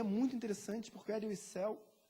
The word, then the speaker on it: Wiesel: Na verdade, se pronuncia por esse judeu Wiesel.